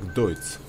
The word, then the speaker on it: Deutz: И как мне сказали, читается это вроде бы как Deutz.